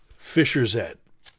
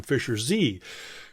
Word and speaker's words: Fischer-Z: I was calling him Fisher Z because I didn't realize that you know the the British pronounced Zed instead of Z so I was always